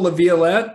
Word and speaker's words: Laviolette: uh paul olivia laviolette paul laviolette is that how you say his name yeah paula violet and john brandenburg and